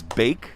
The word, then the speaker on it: Baik: have Baek over here your last names bake bake look pick but I think a lot